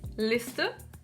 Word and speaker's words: Liste: But in the German language the tongue stands vertically "elf", "Liste", "Lena". That is, we touch the palate with our tongue vertically and move on.